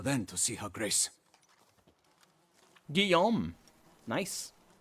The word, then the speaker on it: Guillaume: Guillaume. Nice. Very French pronunciation of that double L.